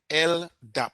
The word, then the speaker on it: LDAP: All right, LDAP, that's how it's pronounced, and it stands for Lightweight Directory Access Protocol.